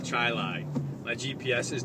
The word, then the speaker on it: Chili: a town spelled exactly the same it's called chili my gps is not aware of this not